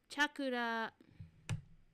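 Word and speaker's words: CHAQLA: Oh, there's a pronunciation. Chakura. Chakura. That was my fault. I do know some Japanese. That was my fault. Chakura. That makes a lot of sense. There is no la and there is no Q.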